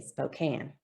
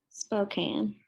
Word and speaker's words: Spokane: Okay, so we're going to say spoke. Spoke. And can. Can. So now when we put this together, we're going to kind of blend it, and we're going to say Spokane.